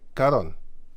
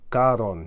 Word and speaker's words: Karun: Karun. Okay, it's spelled Karun there. Here, here it says. Going over what is called the Karun River. He says Karun. Karon, he says, but it's actually Karun.